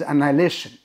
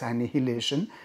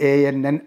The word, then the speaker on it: annihilation: social and religious annihilation that is the pronunciation it is annihilation i mean normally there is a tendency to pronounce that as annihilation is it's actually a-n-n-i-h-i-l-a-t-i-o-n is annihilation okay the the basic